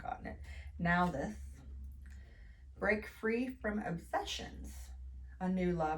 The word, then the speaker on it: Nauthiz: Pronounced Nauthiz. I'm glad I didn't try that one because I would have totally not gotten it. Nauthiz.